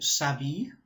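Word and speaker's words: s'habillent: Yes, il ou elle s'habille. And remember, ENT is silent, so s'habille.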